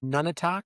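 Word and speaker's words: Nunatak: None, I think, is how it's pronounced. Nu n a t a k.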